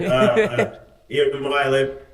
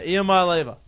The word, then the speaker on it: Iamaleava: Iamaleava. Yeah, Iamaleava.